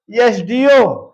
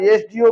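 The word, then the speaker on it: SDO: लेकिन जब हम लिखेंगे इसका प्रोनंसिएशन इस तरह से होगा एस प यह आ रहा है इस लिए जो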